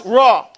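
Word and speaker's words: ر: And when you pronounce Ra, your tongue does not touch anywhere in your mouth. Say Ra. Practice saying Ra without letting your tongue touch the bottom, the top, or the sides.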